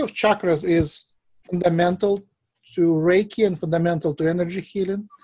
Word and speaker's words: Reiki: energy same energy flow the word Reiki comes from Ray which is light or ray of light and key which is healing energy he and Chi is the same thing just different pronunciations she would be like Chinese key would be like more Japanese right so in Japan Reiki